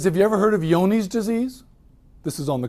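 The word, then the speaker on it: Johne's: years he says have you ever heard of yoni's disease this is on the phone's call cell and i say what's yoni's disease i said how do you spell that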